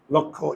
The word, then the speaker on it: লক্ষ্য: এটাকে সংখ্যা এটা সংখ্যা আর এটা তো বোঝো লক্ষ্য এম টার্গেট ওকে তো দুইটার উচ্চারণ একই লক্ষ্য দুইটার উচ্চারণ একই লক্ষ্য সেম উচ্চারণ ওকে এবার একটু দেখো এই